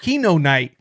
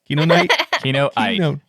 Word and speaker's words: Kinoite: Kinoite. Kinoite. You're adding an extra N. There's not an extra N.